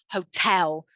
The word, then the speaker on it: hotel: and that's different from hotel so still two syllables but the stress shifts from bottle to hotel same thing with caterpillars